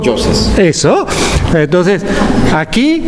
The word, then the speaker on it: Yoses: nunca aprendí a pronunciar porque yo pronuncio Yoses con Y argentina, y no como se diga en tico. Yoses.